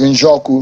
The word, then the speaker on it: Njoku: I hope I pronounce it Njoku. You pronounce it too well.